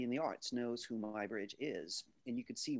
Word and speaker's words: Muybridge: were talking about my bridge and my bridge is spelled m-u-y bridge and just about everybody in the arts knows who my bridge is and you can see way down here